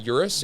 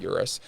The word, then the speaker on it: Urus: How do you pronounce it? Urus? I think it's Urus.